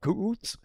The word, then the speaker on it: Kuuts: Now, he smoked a Mayan cigar, all right, called Kuuts, Kuuts, Kuuts. I'm not sure if that's the right spelling in English, but that's how it's pronounced, right?